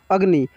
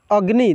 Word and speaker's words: अग्नि: कैसे पढ़ते हैं अग्नि और यहां पे ग जो देख सकते हैं ये जो ग है इसका उच्चारण बहुत ही तेजी से होता है ठीक है इतना तेजी से होगा कि इसमें आपको मात्रा का पता ही नहीं लगेगा अग्नि देखिए अग्नि ग ग का उच्चारण बहुत फास्ट में होता है यानी इसमें से अ की मात्रा हट गया रहता है इसको और अच्छा